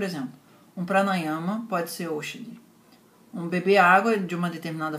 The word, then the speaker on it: Aushadi: E essa palavra se pronuncia Oshadi.